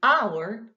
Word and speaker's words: hour: you get a sound a consonant letter but a vowel sound we have consonant h and h here but when we pronounce it we say an hour an honest man this